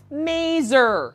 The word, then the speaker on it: maser: Yes, I pronounced it correctly, mazer.